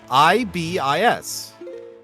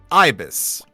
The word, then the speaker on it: Ibis: That would give you inference to the pronunciation. All right, how about this one? I-B-I-S. Ibis. Ibis? Ibis.